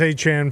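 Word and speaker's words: Etienne: Travis Achan from the Jaguars. Yeah. I just did we say his name right? It was at the end. He changed it to Achan.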